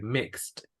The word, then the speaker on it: mixed: Okay, a veces nos dan ganas de pronunciar la ED. Por ejemplo, aquí en mixed. Sonaría raro como no estamos acostumbrados a decir mixed. Okay, but that is the correct pronunciation. So when you hear something in past, you may notice that this E is not pronounced.